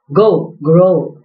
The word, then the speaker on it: Gouraud: Actually, this is pronounced as grow.